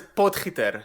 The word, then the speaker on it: Potgieter: Oh man, last name is Potgieter.